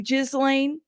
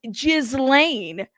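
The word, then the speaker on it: Ghislaine: it with your chest jiz Lan okay G with a hard G okay that's right she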